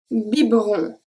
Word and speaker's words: biberon: So sometimes E in the middle of the word can be silent. Let's have a look at 3. Un biberon.